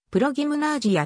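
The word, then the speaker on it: прогимназия: にプロギムナジウムはロシア語でプロゲームなぁジアと発音するありがとうございます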